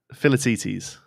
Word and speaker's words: Philoctetes: It's a silent C. What? Philoctetes.